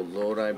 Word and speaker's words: Lodi: But, you know, like, the weird thing is people down here, we didn't know how to pronounce Lodi, so we were calling it Lodi.